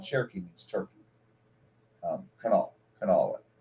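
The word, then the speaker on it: Kanawha: Cherokee means turkey um canol canol well it's spelled k a n a wh a like Canal City Canal County but but but the way it's spelled it looks like canala so again for people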